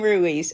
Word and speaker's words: Ruiz: his name rui Lenny says say his name Ruiz okay Ruiz has 27 stolen bases now five games still